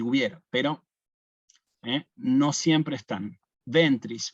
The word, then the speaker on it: ventris: pero no siempre están ventris ven también otra palabra bisílaba yo le he puesto el acento en la penúltima Sí tú y Jesús